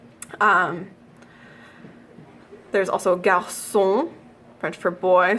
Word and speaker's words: garçon: There's also garçon, French for boy, so without the cedilla it would be garçon, also gibberish, and French for déçu,